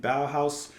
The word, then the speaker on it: Bauhaus: of in the flat field by the band bow house uh I've looked it up and I'm pretty sure I have their name pronounced correctly so bow house uh this is